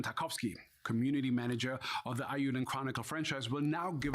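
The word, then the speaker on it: Eiyuden: Ayuden. So I've been saying it wrong.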